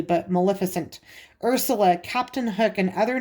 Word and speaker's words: Maleficent: i was a kid i say melissa melissa fent like a heffalump so if i say that wrong in the video i know i'm saying it wrong it's just one of those words that's hard for me to say correctly but maleficent ursula captain